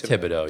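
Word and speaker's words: Thibodeau: Is it Tibido? It's Tibido. Yeah, Tibido. So, Tom Tibido, he has something that you can't really teach, and that is he has heart.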